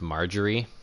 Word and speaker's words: Marjorie: items in stock oh her name is pronounced marjorie i never would have guessed that there's how did